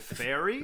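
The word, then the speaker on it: Feyre: Fe R, you're like, "How do you pronounce this? Is it fair? Is it fire? Is it fairy? Fairy. One of the sisters says, "Please, Farah." She drew out the two syllables of my name.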